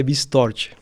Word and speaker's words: Bistorch: O sobrenome em espanhol, então, acho que é um pouco mais complexo para você essa pronúncia, então, mas é Bistorch, tá? Seria mais ou menos lá a forma para Perfeito.